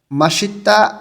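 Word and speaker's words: 맛있다: হবে শিরোহাদা অপছন্দ করা মাসিত্তা স্বাদ আছে বা সুস্বাদু মাত মানে স্বাদ ইত্তা মানে আছে একসাথে যখন উচ্চারণ করব তখন শিওরটা ইয়ং এর স্থানে চলে যাবে মাসিত্তা অর্থ স্বাদ আছে বা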